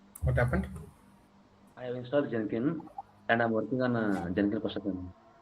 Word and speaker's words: Jenkins: I have installed Jenkins and I'm working on Jen. It's not Jenin, it's Jenkins.